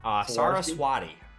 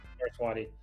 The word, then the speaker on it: Saraswati: So you got Next Design, Replicating Perfection, Sync, Builder of Nations, and how do you pronounce that one? Saraswati. Saraswati.